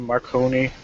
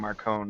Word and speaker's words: Marcone: Didn't one of the audiobooks have his name Marconi? The first one did. Yeah. The first one was Marconi, which is how I always read it. Like, Yeah. reading the books, I read Marconi. But then, I want to say, Full Moon, they started saying Marcone, not Marconi. Yeah. right. And he stayed as Marcone for the rest of them.